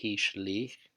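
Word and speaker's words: השליך: Next we have the root shin lamed kaf, which only appears in the Hitfield, and it's pronounced hishlich, and it means to throw.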